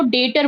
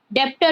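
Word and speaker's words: debtor: Amount has not received yet डेटर आर इसको डेटर बोलते हैं। स्पेलिंग है देखो डी ई बी टी ओ आर बट बी is silent in this so we pronounce it ऐज़ डेप्टर B silent होगा डेप्टर नहीं बहुत लोग पढ़ते हैं इसको डेप्टर बट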